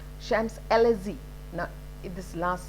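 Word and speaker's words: Champs-Élysées: you know ah chef the ch is pronounced as sha shams lz now this last sound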